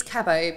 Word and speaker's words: Cabo: It's Cabo, but Cabo. Everyone pronounces it differently.